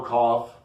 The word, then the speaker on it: Cough: the Waters, the Duns, Little Cough. That's how you pronounce that, cough. Little Cough twice, that little kid.